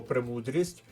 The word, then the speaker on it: премудрість: звернути увагу на слово премудрість і слово причіп Зверніть увагу на наголос на першому складі в підсумку правильна відповідь